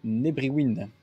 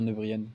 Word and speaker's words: Nebriwin: Salut à toi Nebriwin. Faut que j'arrête de dire Nebrian.